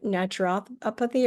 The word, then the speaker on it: naturopathy: of natur uh how do you say n naturopathy or naturopathy?